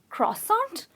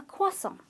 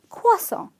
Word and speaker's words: croissant: a croissant or a croi-sant but it’s actually a kaw-sant ok so the "R" is silent there is an invisible "W" that appears in the pronunciation its kaw-sant, you might find it